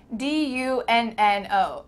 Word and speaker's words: dunno: It kind of sounds like D-U-N-N-O. Dunno.